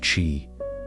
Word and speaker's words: qi: Ancient Chinese practitioners believed that health was a state of balance between the body's energy, or qi, pronounced qi, and the forces of nature.